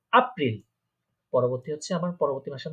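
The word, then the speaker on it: April: জার্মানে বলবো আপ্রিল, কারণ আমরা জানি এটাকে আ উচ্চারণ হয়। এটাকে বলবো আপ্রিল।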